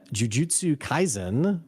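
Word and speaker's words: Jujutsu Kaisen: put out a video on an anime uh Jiu Jitsu Kaizen did I say it right nailed it yeah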